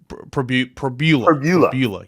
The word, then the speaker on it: Pribula: You say Pribula. Pribula.